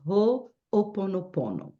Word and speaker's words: Ho'oponopono: we are here today to talk about the whole ponopono I know it's hard to say and we say wrong so many times and one day we start saying right but the right pronunciation is whole oponopono and I'll tell you all about what it